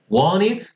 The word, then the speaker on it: wanted: que suene el pasado, esto se va a pronunciar como la ID. O sea, wanted, needed.